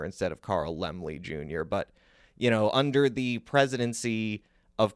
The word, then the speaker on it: Laemmle: I've said his name wrongly in the past. I've said it Carl Laemmle Jr. instead of Carl Laemmle Jr.